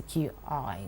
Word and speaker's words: Qi: to stimulate energy flow, known as the QI, which is pronounced Qi.